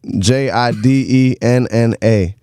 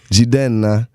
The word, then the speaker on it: Jidenna: Jidenna. Jidenna or Jidenna. However you want to say it, just spell it right and I'll be there for you.